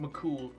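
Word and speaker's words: Mac Cumhaill: is spelled hale but it's pronounced mccool um i love how his legend is that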